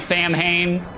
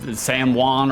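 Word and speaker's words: Samhain: I don't like Sam Hayne. I know it's Sam Juan or whatever the it is, but I don't I don't pronounce it like that.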